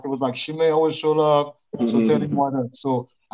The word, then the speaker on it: Chima: And respectfully, the way you pronounce my first name is Chima.